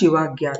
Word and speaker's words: Shivajna: So the term Subika is derived from the Sanskrit word Shivajna, pronounced Shivagya, which is a corrupted form of Saubhagya, which means good luck or prosperity.